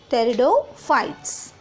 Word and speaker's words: pteridophyta: next synopsis four is pteridophyta the pronunciation say children pterido phyta or terrido fights this state of terror